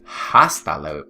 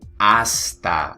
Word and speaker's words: hasta: it yeah all right the letter H is silent in espanol all right the letter